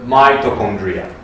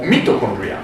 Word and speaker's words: mitochondria: Then a second organal in the cytoplasm that is very important is called the mitochondria or mitochondria. It really depends but both are okay.